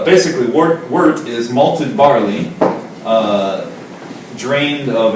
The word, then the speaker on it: wort: It's been around for years and years, but it's basically boiled wort. It's O-R-T, but it's pronounced wort. Wort. Like an E. Like wort, like the Wort. little mole.